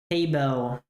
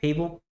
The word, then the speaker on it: Paybell: By the way, my name is pronounced Paybell. Paybell. Yeah, I wasn't sure how to say it. What have I been saying? Pable?